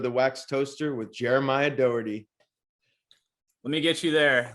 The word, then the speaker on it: Dougherty: last name is pronounced docker t likerty so i guess it's the d-o-u-g-h would come off super harsh like the gh would almost be like a ck but i don't know